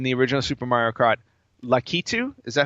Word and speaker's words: Lakitu: Yeah, Lakitu. Yeah. He owns all of the racetracks in Super Mario Kart. Does he really? Yep. In the original instruction booklet for the game, Lakitu greets the players, letting them know that he